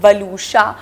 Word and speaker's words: Waluscha: My name is also not very easy to pronounce, वलूशा, मगर people have started, you know, knowing how to pronounce the name.